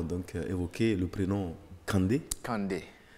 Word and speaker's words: Kandé: évoquer le prénom Candé Kandé à ne pas à ne pas mal prononcé parce que si vous prononcez mal vous tombez sur dans dans autre chose donc Kandé non c'est pas k c'est pas c'est pasand Kandé donc on tire un peu sur le sur le N pour faire donc le